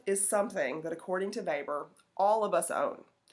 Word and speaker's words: Weber: term life chances remember his name is w/e BER but we pronounce it Weber so Max Weber studied